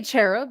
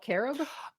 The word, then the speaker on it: cherub: the carab or cherub you don't say cherub you call it carob in Hebrew it is a hard C Sound carob is the fake